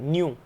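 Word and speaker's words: ν: म्यू आपने पढ़ा है, ठीक है, ये न्यू है, इसको प्रोनाउंस किस तरीके से करेंगे, NEU, न्यू।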